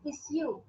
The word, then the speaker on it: issue: it is suggestion and it is not issue it is issue so this is pronunciation